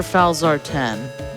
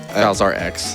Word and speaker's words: Falzar X: Now, is it Falzar X or Falzar 10? Fazar X. Yeah. Okay. Said it right the first time.